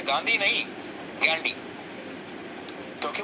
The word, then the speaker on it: Ghandy: अंग्रेजी में वो गांधी नहीं गैंडी लिखते थे, जिसकी स्पेलिंग है GHANDY, गैंडी।